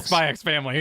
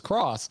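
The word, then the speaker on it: Spy × Family: for maximum chat rage you should pronounce the X and spy X family as cross like Street Fighter cross Tekken oh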